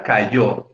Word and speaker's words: cayó: Por ejemplo, en la palabra cayó, ¿no? Mi padre se cayó, la sílaba tónica es la última, yo, y está marcada además con un acento ortográfico, o sea, con una tilde.